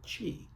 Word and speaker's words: qi: force is what's called chi. Chi is spelled qi.